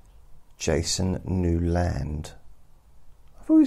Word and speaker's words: Newland: And he pronounces it Newland so that people know how it's spelt.